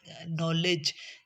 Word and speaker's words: knowledge: In this word we can say d sound is silent. Knowledge, knowledge, in this g is coming after d